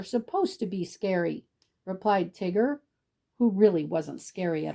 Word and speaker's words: Tigger: That's spelled T-I double Gur. Tigger. Double G-er. Tigger.